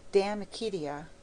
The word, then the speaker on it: De Amicitia: We've finished Livy and De Senectute, and now engaged with De Amicitia, pronounced Damicitia. Should you mind, just for a little while, pretending you are my grandmother?